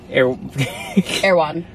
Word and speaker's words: Erewhon: you're going to have to say it right airan say it with me aan aan airan I don't know on what we